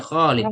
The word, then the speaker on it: خالد: Aslinya Khalid panjang.